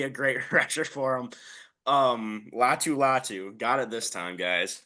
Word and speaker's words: Latu: You pronounce it pretty well. Say it for me. Latu. That guy. I think he's going to be a great rusher for him. Latu.